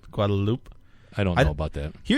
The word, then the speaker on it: Guadalupe: Apparently you don't say the E sound on the end of that. Guadalupe. Guadalupe.